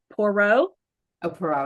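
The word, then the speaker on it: Poirot: was a I'm gonna say it wrong a poro AO yeah is that right did I say it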